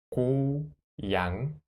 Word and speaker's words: 고양이: The first circle shape conson is a place order and the circle shaped concern in the final consonant is 응. So 야 응. 양 양 the block이 so 고양이 고양이 고양이 고양이 귀여워요.